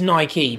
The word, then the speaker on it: Nike: Is it Nike or Nike? It is Nike because it's Nike was the goddess of victory.